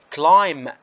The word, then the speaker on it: climb: لذلك البي هاي silent، بنوصل عند حرف الام وخلص بنسوي stop بنوقف. هاي ما بنحكي عنها climb، لا بنحكي عنها climb climb.